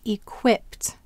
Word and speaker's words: equipped: How about in equipped? Where will the accent be? Equipped. That's right. It's on the quip.